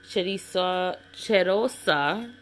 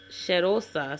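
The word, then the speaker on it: Cheirosa: smaller size of the chisa chosa sherosa sorry I was saying it wrong chosa 71 caramelized van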